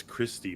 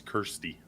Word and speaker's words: Kirsty: So, like, Homegirl, uh, I want to say it's Christy, but it's not. It's Kirsty.